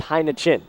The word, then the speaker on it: Heineken: Sounds a lot similar to the adult beverage brand Heineken, but it's pronounced Heineken.